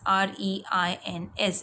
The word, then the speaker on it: reins: REINS, reins, took over reins means to get control. It is pronounced just like RAINS and REIGNS, but all these three have different meanings.